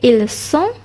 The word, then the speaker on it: ils sont: Tapi kalau kita berbalik semula dekat verb être tadi, okay, bila ejaan dia SONT, kita kena buat bunyi S. Okay, ils sont ataupun elles sont.